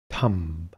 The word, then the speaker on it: thumb: Thumb.